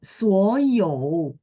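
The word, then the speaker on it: 所有: 所有，所有, 有 nya diayun ya Pak, karena dia 3 dan 所 berdiri 有， sendiri. Oh, 所有.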